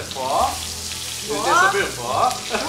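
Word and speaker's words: phở: Então a pronúncia certa é pho.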